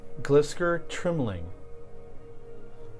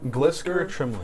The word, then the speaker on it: Glisker Trimling: Glisker Trimling.